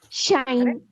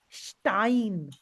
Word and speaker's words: Stein: pronounced as sh sh so for example if there is a word like this Stein shine shine yes this s will be pronounced as sh then we are having T after it Stein Stein how is the